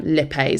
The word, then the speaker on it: lipase: the help of the enzyme lipas sometimes pronounce Lipa but you can say either or just make sure you